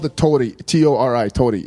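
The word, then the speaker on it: torii: Ours are pronounced like L's, tori.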